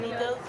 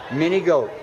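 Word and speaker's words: Manygoats: Mini goat. Mini goat, yes. just like it's spelled, in other words.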